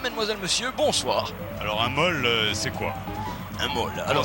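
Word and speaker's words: maul: ce bol Madame Mademoiselle Monsieur bonsoir alors un molle c'est quoi un mot alors ça s'écrit là-bas M a u l oui les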